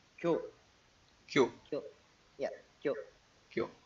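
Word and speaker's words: 教: In Cantonese, this would be gao, right? In Korean, it's pronounced as kyo.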